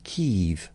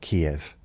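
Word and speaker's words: Kyiv: And three years ago, the people in charge of this country decided that it's called Kev. It's not Kiev.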